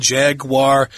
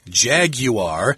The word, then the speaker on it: Jaguar: That's a make of car from England, Jaguar, although this is the American and Central and South American pronunciation, but I have heard British people say Jaguar. Yeah, so if you're talking to British people, that's probably what they'll say.